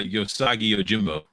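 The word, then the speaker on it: Usagi Yojimbo: have it look like uh I forget oh yo-yo saki is that how you pronounce it oh Yogi uh yosagi ojimbo yes thank you I was like okay it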